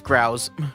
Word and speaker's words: grouse: Is it like a rouse or is it like goose? It is a bird, right? That's a cute bird, by the way. Uh pronunciation. It's growls.